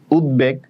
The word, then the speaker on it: উদ্বেগ: উদ্বেগ, রস্যও থাকলে রস্যই বসে, দ তারপর ব তারপর এ, তাহলে দ হসন্ত উদ, এখানে কেন অ উচ্চারণ হচ্ছে না বিদায় হসন্ত।